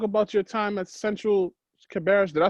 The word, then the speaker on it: Cabarrus: Talk about your time at Central Cabarrus.